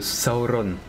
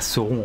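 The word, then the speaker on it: Sauron: a beaucoup qui c'est comme saoron les gens ils sont en mode waouh pourquoi tu dis pas saon en fait bah tout simplement parce que il y a un guide de prononciation que Tok a et du coup bah c'est il faut le suivre c'est drôle parce que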